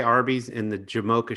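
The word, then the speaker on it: Jamocha: say arby's in the jamoka shake is one of my favorite food items sometimes mispronounced as the jamaican shake because i did work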